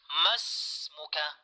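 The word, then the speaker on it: ما اسمكَ: pangungusap, takhtafi minan nutqi, magiging silent na po siya, ay annaha la tuqra'u. La tuqra'u wa la tuntaq. Hindi po natin siya binibigkas.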